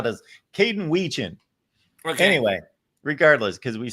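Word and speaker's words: Wetjen: Wedging.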